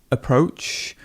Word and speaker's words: approach: Here we've got the schwa. It's a good approach. It's a good approach, and the stress would be here.